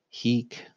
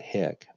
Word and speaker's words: hic: want to notice that he quit a long I is not this as a pronoun or as a demonstrative adjectives heek not hick but he quit the